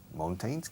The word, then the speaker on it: mountain: La O-U en inglés casi siempre tiene sonido de au. Uh-huh. Au, como cow.